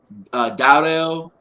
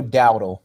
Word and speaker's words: Dowdle: Offensively, Dowdell. Is that how you say his name? The running back? Rico Dowdle. Dowdle?